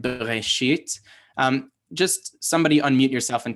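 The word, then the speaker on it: בְּרֵאשִׁית: So it is supposed to be pronounced bereshit, but this is the difference between a Hebrew syllable and what we think of as beats in English as a syllable, right? We think like bereshit, but the shva is not a true vowel, right? So in a modern Israeli speaker is probably just going to say breshit, right?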